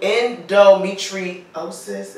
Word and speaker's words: endometriosis: we have some of us have on intro endometriosis am I saying correct you said it right